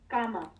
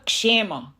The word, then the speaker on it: kshema: No, it's called kshema. Kshema. That's how you pronounce. Kshema. What does that mean? Shame is when you want to protect what you have acquired. So how you pronounce it as जैसे क्षमा how we say क्षमा उसका है वो क्षेमा.